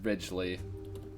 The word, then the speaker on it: Ridgely: i'm spelling your name it's pronounced ridgely it's like ridges the things ruffles have right and i'm